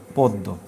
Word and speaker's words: পদ্ম: তারপরে নিষিদ্ধর পর ওটা লেখা পদ্ম, কিন্তু আমরা উচ্চারণ করি কি? পদ্ম, পদ্ম।